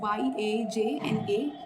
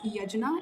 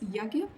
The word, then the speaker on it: यज्ञ: So usually you will find the spelling of यज्ञ एज YAJNA. सो डू not pronounce it एज यजना, इट is called as यज्ञ. Okay, the spelling is like that, but you have to say it yajna.